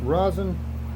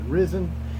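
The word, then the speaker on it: resin: of the Rose risen Rosen please pronounce it risen and equal parts of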